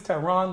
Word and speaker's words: Tehran: h r a an my name is Terron like the capital of Iran so if you don't